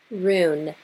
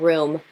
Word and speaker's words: rune: Rune, R-U-N-E, like rune, Celtic, Norse, rune, the elder funk. Oh God, why am I pronouncing things again? We've already been over the dyslexia. But rune, not room, rune candles.